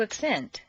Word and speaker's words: accent: In the list below, change the stress from the first syllable for nouns to the second syllable for verbs.